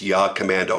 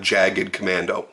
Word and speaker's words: Jagdkommando: by the way that is the way it's pronounced it's yeah commando not jagged commando it's named after the Austrian Special Forces paramilitary